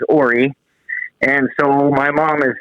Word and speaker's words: Ora: You might have heard this one, but at Deadwood one year, he's pronouncing it Ora and found out that it is Ori.